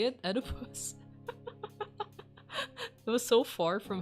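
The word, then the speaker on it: Oedipus: O o dippus.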